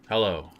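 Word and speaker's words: Helio: hell don't try to just don't try to pronounce the word h e l i o hello hello Gracie was training right up to his death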